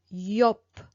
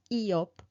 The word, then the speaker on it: Yop: Okay, or for example, the word yop. I'm not going to pronounce Eop. I'm going to pronounce Yop.